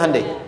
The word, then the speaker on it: Hyundai: Hyundai kan dibacanya Hyundai.